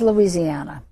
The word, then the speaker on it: Louisiana: Uh, because people in North Louisiana are might be inclined to say Louisiana as well, but it is Louisiana. And you've been saying New Orleans, right? So, New Orleans is pronounced differently by everybody and you can almost